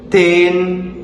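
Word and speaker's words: teen: Para decir yo se dice ten. Se lee las dos es.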